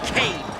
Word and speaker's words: Cain: Cain rhymes with pain, Jeez.